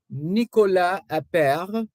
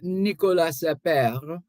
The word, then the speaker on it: Nicolas Appert: The inventor of canning, Nicolas Appert, Nicolas Appert. And because it's French, you wouldn't pronounce the S or the T.